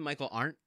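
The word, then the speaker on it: Michael Arndt: I chose it um how do you pronounce his name Michael art that you got it AR okay so it's written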